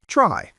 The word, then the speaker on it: trie: Today we're learning about a really cool data structure called try, spelled tr i e but pronounced try.